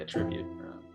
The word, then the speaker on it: attribute: Well, that's how you'd say it if it was a verb. You'd say attribute.